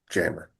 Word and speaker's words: Jamur: And jammer looks like Jamur, so it's just Jamur, but for some odd reason they pronounce it jammer.